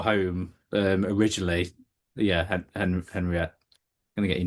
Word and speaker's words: Henriette: We keep wanting to say Henrietta because I know I've got a friend who's a Henrietta and I keep gonna call you Henrietta. I use both.